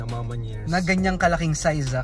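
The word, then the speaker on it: A Ma Maniére: Iba ang pronunciation na ito, Amamanier. Sabi Amamanier, Amamanier. Amamanier. Amamanya. Amamanya, 'di ba?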